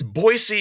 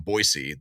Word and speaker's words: Boise: Boise and they're like it's boisey you idiot you know I mean it's like people are legit serious from boisey that it's not a z who put a z there it's like y Banks you know who put a z there it's an S so is there that